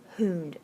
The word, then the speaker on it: Hund: those can only hold two electrons and then Hound that word is I know it looks like hund but it's spelled hon Hon's rule says if you have